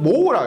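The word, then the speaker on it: mho: 읽을 때는 모라고 읽어요. 모.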